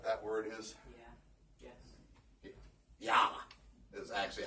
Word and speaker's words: Ja: Ja is actually how it's pronounced, right? Ja.